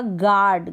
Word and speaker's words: guard: Next जैसे आपने देखा होगा गार्ड, गार्ड मतलब जी के बाद यू है, यू साइलेंट है।